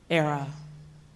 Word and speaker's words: Airea: say it with me era that's really sweet that y'all did that rhymes with Sarah Sarah from the Latin